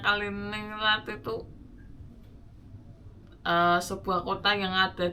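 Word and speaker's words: Kaliningrad: Untuk nama-nama kotanya ya, nama kotanya itu Ekningrat, bacanya Kaliningrat.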